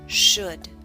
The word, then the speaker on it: should: book push put should note the L and should is silent should the next sound is